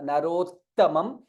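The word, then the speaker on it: नरोत्तमम्: There is two tas there. Ta and ta. Narottamam. So both needs to be, it is not Narottamam.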